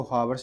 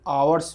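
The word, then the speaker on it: hours: घंटे की दूरी पर इसको हावर्स नहीं बोलते आवर्स बोलते हैं आवर्स एच इसमें साइलेंट होता है द पैथ पथ द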